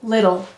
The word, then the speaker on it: little: Little. You'll notice that it kind of softens to the d sound sometimes. Some people say little, and many people say little.